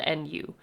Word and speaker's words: nu: represented by this now it looks like a v it is not a v it is the symbol Nu which is spelled n u so Nu is frequency